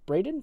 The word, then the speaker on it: Braden: he meant named Bret Braden Braden that's how you say it hey the next thing